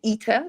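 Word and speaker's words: ITER: reactor that's being built it's called eater it's spelled i t e r ether and it's being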